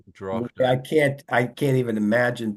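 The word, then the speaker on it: droghte: I don't know how you're pronouncing that, Lloyd, but You know, the, well, you the pronounce the GH, so it's yeah, Drochte.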